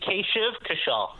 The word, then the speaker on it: Kashiv Kashal: So how do I pronounce it properly? It'd be Kashiv Kashal.